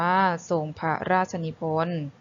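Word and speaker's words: ทรงพระราชนิพนธ์: ศัพท์ กัน นะ คะ คำ ศัพท์ แรก ทรง พระ ราชนิพนธ์ อ่าน ว่า ส่ง พระ ราชนิพนธ์ คำ ที่ 2 พุทธศักราช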